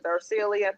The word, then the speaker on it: Darcelia: my name my name my first name is darcelia people say ursula i'm like nope that's not it that's not it exactly